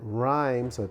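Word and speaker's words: Rheims: Testament had been published at rymes that's how you pronounce it re of RS in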